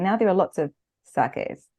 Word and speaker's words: sake: do would probably give you a primer on sake itself so here's Rebecca explaining some of the distinctions of this unique drink the word sake or saki as it's often Mis pronounced in the west